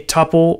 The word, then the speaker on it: tuple: So a string is hashable, a tuple or a tuple, if you pronounce it that way, is hashable.